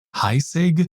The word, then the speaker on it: Heisig: Okay, as an aside, why does everybody seem to pronounce it as heig? I'm like 99% sure it's a German last name and thus should be pronounced something like heig or something like that.